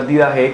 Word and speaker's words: didache: En griego se pronuncia didache, que significa enseñanza.